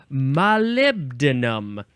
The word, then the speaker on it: molybdenum: I don't know how to pronounce it, but it's molybdenum.